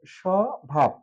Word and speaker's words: স্বভাব: যেমন স্বভাব স্বভাব আছে স্বভাব শব্দটি প্রথমে ব ফালা যুক্ত আছে আর যুক্ত থাকার কারণে এই ব এর উচ্চারণ নেই সে হিসেবে আর স্বভাব শব্দটি উচ্চারণ করার সময় স ভাব সাধারণত স এর মত